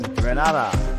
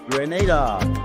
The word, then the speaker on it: Grenada: So today, like we German say, we are in Granada, but I heard in English it's called Grenada. Say it right. Grenada. Say it right. Grenada. That's right. Grenada. There we go. Say it right. It's Grenada. It's not Granada, it's Grenada.